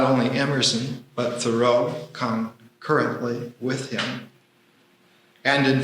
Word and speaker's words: Thoreau: Wallace Stevens and I will add Theorough to the Thoro to the list. That's how he wanted it pronounced.